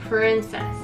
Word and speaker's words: princess: そうそうそう、shimmering、 shimmering、そうそうそうそうそうそうそう、princess のところがプリンセスってなってたから、ここをちゃんと R の音を意識してあげて、princess、 princess、そうそう princess、 princess、そうそうそうそうそう、 let your、 let your、 let Let's